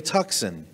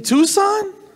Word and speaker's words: Tucson: going to love it it's a hyundai tuxen like oxen really you mean tucson she goes tucson is